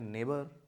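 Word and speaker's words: neighbour: नेबर। इसमें भी जी silent है और नेबर नहीं, that is called नेबर, नेबर। ने नहीं, ने, नेबर।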